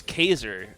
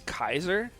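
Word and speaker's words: Caesar: this yeah wait how how do you say it uh geyser now that is after julius yeah i thought it was caser it's kaiser i thought caser was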